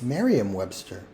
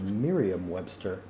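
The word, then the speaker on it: Merriam-Webster: was a mistype it's Mariam Webster okay well that that is an error on my part I thought it was Miriam Webster guess I've been saying it wrong all those years I knew it was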